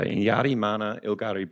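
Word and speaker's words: Inyarrimanha Ilgari: bit of a mouthful so just breaking it up phonetically there you've got any yardi what do you like the rolleraz a bit so it almost sounds like a bit of a D sound so in Yari Mana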